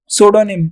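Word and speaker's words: pseudonym: देखिए सोडोनिम, इसके लिए हम बोलते हैं सूडोनिम, यहाँ पर पी साइलेंट होता है, सूडोनिम।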